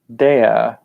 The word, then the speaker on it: dea: Yeah, dia is actually a Latin word. It is pronounced dea.